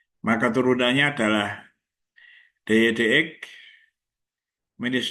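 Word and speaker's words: dy/dx: Dan Y aksen itu disimbolkan dengan DY dx. Itu membacanya DY dx ya, bukan DY per dx, bukan. Ya, DY dx.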